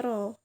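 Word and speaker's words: rho: jenis itu simbolnya itu seperti P kecil ya tapi miring terbacanya roll Mas sejenis rumusnya =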